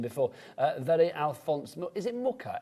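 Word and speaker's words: Mucha: Is it Muka? M U C H A. Is that how you spell it right?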